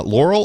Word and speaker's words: Lorelle: your name mixed up either uh Laurel or Laurel but it's Laurel yes okay okay so